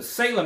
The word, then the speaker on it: Salem: to Oregon see I said it right the Salem area feel free to visit and he put